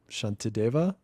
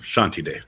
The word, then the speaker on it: Shantideva: That was from this Buddhist principle, Shantideva. How do you say it? Yeah, yeah, close enough. Shanti Dave. Yeah, Shantideva.